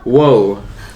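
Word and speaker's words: を: h whoo wo W no not R sound wo wo like no wo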